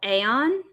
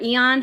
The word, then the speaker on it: Aeon: He had like a whole album called Aeon, or Eon, however you want to pronounce it.